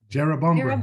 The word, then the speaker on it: Jerrabomberra: Okay, pronounce this for me. Jerrabomberra Jerrabomberra.